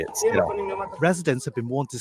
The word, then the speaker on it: Sderot: Sderot.